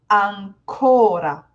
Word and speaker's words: ancora: For example, these two words, I know they're spelled the same, I know, but one is ancora. I'm putting the main stress on the O.